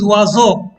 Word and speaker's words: oiseaux: Un oiseau, des oiseaux. Again, the x is silent.